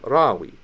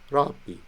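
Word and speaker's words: ܪܒܝ: We pronounce not ra-bi, but rab-bi.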